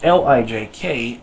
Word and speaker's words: lijk: This Lijk is pronounced much like the English word luck.